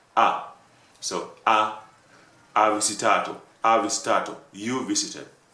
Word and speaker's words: ha: Okay, if I ask you, you visited, you would say ah, and actually it's written with ha, with H-A, but it pronounced like ah.